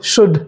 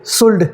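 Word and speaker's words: should: करना है राइट अच्छा ओ यू एलडी में अगर एल आ रहा है तो ये एल प्रोनाउंस नहीं किया जाता जैसे कुछ एग्जांपल क्या लिखा है कुड कुड वुड वुड शुड शुड write अगर जो आपको ये नहीं पता होता तो क्या पढ़ते कुड कुड वुड वुड शुल्ड शुल्ड right तो लेकिन वैसे बच्चे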